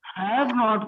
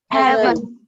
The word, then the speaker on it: haven't: हैव नॉट को short form में क्या पढ़ते हैं? हैवन। क्या पढ़ते हैं? Heaven. हाँ, हेवन पढ़ते हैं।